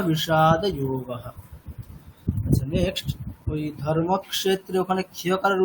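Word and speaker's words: धर्मक्षेत्रे: আচ্ছা আপনার কিন্তু এই মানে ওটা মূর্ধন্য স আছে, ঠিক আছে, আপনি দন্তস্বর উচ্চারণ করছেন, ধর্মক্ষেত্রে। হ্যাঁ, কিন্তু আপনি উচ্চারণটা করছেন মানে দন্তস্বকারের, ওটা স আছে মানে, আচ্ছা স হ্যাঁ তাহলে উচ্চারণটা কোথায় হবে, স যেখানে ধর্মক্ষেত্রে। টকারটা যেখানে উচ্চারিত হচ্ছে সেখানে হবে, আচ্ছা তাহলে ধর্মক্ষেত্রে মানে উপরের দিকে জিভ, ধর্মক্ষেত্রে কুরুক্ষেত্রে।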